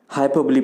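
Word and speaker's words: hyperbole: Next है हाइपरबली। इसका जो करेक्ट प्रोनाउंसिएशन है वो हाइपरबली है। बहुत सारे लोग इसको हाइपरबोल बोलते हैं, हाइपरबोली बोलते हैं, but according to the Oxford dictionary the correct pronunciation is हाइपरबली।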